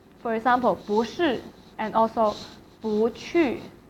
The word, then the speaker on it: 不去: If it is a case that 不 is followed by a fourth tone, and then 不 will be pronounced as second tone. 不 For example, 不是 and also 不去去 means go.